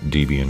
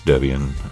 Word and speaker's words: Debian: And it's actually not Debian, it's Debian, is what I've been told.